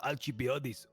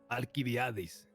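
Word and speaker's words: Alcibiades: Have you heard of Alchiadis? Aliviadis. That's how you pronounce it.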